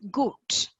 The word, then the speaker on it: gut: So good means, and we say it as G-O-O-T. That is what is the pronunciation. It's goat. And it has to be a little elaborated. That U has to be O-O. It's good.